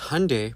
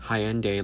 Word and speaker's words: Hyundai: Because Hyundai, pronounced like Sunday, not Hyende, like you're saying, is a Korean company.